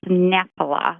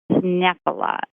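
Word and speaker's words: Knoephla: yeah that is pronounced nepala the k is silent and it's called nephilis nephilia and it is nepala and it is a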